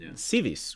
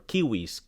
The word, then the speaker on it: civis: you are not civilized comes from civis which is or kiwis kis depending on the pronunciation which is City I